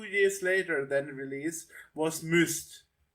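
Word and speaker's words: Myst: later than release was Mist. Okay. Yeah. Yeah. Is it pronounced that way? M. Yeah. Mist. Okay.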